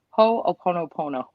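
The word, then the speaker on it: Hoʻoponopono: practice of ho let me say it right ho oponopono okay uh jody i don't know if you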